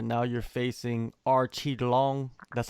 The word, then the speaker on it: Aoriqileng: what i've done all right now you're facing archie long that's how you pronounce his name i actually interviewed him oh